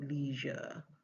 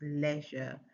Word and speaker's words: leisure: And then for leisure, I got leisure. But those are not correct. The sound is e. So it is leisure and leopard and says, okay, all of those are examples.